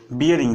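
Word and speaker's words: bearing: लेकिन नॉर्मल आमतौर पर बोलचाल की भाषा में हम लोग इसको बैरिंग बोलते हैं, ठीक है, जो कि सही उच्चारण नहीं है। सही उच्चारण क्या होता है, सही उच्चारण होता है बियरिंग, ठीक है।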